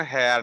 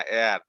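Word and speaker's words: heir: এর উচ্চারণ হেয়ার না এয়ার।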